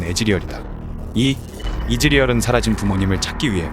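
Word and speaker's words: Ezreal: 콜트 한라맨 닉네임에서 따왔다 또한 이즈리얼의 원문 발음은 애즈리얼이다이 이즈리얼은 사라진 부모님을 찾기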